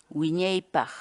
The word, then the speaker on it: wiñaypaq: de vídeos en la que te enseñamos a pronunciar algunas palabras en quechua así que nuestra palabra del día por hoy es winnipeg gwyneth baja winnipeg la palabra quechua en español